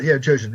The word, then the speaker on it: Jojen: on amongst the wildlings, is it Jojen? Is that how you pronounce it? Yes, Jojen. It's got Yeah, Jojen, right. How else would you pronounce that?